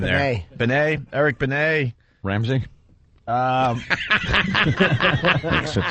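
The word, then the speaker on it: Benét: Benet.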